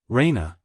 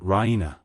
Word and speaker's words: Raina: full of good news Raina she pronounces it rhena with the stress on the E Raina she goes to